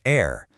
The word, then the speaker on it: heir: weird thing in common, a silent H. First up is heir.